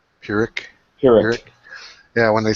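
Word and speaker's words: Pyrrhic: I'm not sure how you pronounce this. Excuse me. It's P Y R H I C. Purick.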